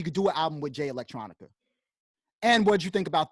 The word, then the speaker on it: Jay Electronica: I don't really know Jay Electronica. Did I say it right? Yeah, Yeah. Jay Electronica.